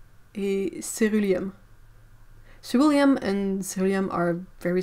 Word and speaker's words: ceruleum: Well, like lac de Garance rose, auréoline, et ceruleum.